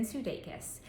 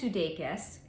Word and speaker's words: Sudeikis: So Jason, I don't know if I'm pronouncing his last name correctly, I think it's pronounced Sudeikis, is an American actor and comedian.